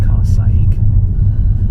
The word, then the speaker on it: Carsaig: It's pronounced Carsaig, and in Carsaig it's got a very famous phone box.